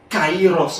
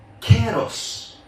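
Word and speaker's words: καιρός: Il n'est pas prononcé Kairos encore. Maintenant, il vient prononcer dans le grec moderne Kéros.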